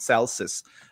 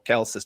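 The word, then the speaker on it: Celsus: The first anti-semite who promoted this was somebody called Celsius and or Kelsus depending on your pronunciation.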